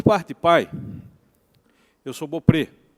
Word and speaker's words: Beaupré: Mas, por parte de pai, eu sou Beaupré. E Beaupré, por mais que a grafia e a pronúncia seja francesa, originalmente o meu nome, o meu sobrenome familiar se escreveria B-E-A-U-P-R-E, Beaupré, que quer dizer Campo Belo, Belo Prado.